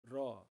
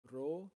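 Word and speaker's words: را: In formal speech, it's pronounced ra, but in informal context, it becomes ro or o.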